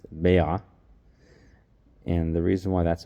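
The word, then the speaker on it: ביעא: an egg because in the Aramaic language it's pronounced Bea and the reason why that's important it's to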